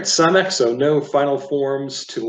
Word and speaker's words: Samech: Okay, next letter is pronounced Samech. So it's got that hard CH pronounced from the back of the throat like a chet, a chaf. Samech, so it's not Samech.